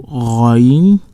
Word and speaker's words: غ: So Ghain, Ghain, Ghain. So this is a heavy letter.